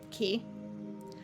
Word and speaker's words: Chi: I need is water actually key uh it's spelled Chi it's spell Chi it's it's 100% Greek because uh the character is